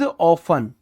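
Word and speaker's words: often: सी इज ऑफन, टी इसमें silent होता है, ऑफन इसको पढ़ते हैं।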